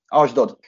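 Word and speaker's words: Ashdod: során ühüm a legsikeres segíts légyszi a pontos kiejtésébe a csapatnak ugye ez az fc asdod asdod így van asdod aha és itt 20 mérkőzésen egyébként három gólt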